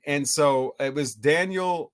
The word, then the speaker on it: Daniel: And so it was Daniel.